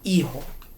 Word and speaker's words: Hijo: It's Hijo. Hijo. Sorry. The H in Spanish is silent, and the J sounds like an H.